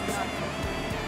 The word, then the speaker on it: Tatanka: Tatanka, I never can pronounce that right. Kevin Costner's spot. Tatanka. You said it right.